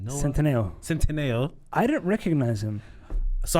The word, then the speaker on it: Centineo: Centineo.